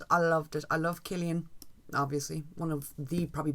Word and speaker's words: Cillian: I love Killian. Obviously, one of the probably best Irish actors of all time. It hurts my soul when I hear people call him Cillian.